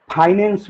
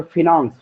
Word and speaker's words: finance: orientation, management of finance, जिसे आप फाइनेंस भी कहते हैं, उसका ओरिजिनल उच्चारण फिनांस होता है।